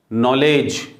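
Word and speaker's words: knowledge: डी के बाद जी, कभी भी डी प्लस जी हो तो वहाँ डी का साउंड जनरली साइलेंट ही होता है, डी का साउंड डा वहाँ पे नहीं पढ़ते हैं अपन। जैसे के एन ओ डब्ल्यू एल ई डी जी ई, नॉलेज, ठीक है ना, डी और जी दोनों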